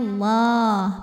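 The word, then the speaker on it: الله: Lam pada lafaz Allah atau lam jalalah dibunyikan secara tafkhim karena huruf sebelumnya berbaris fathah, maka dibacanya tebal. Bunyinya Allah, pangkal lidah ngangkat.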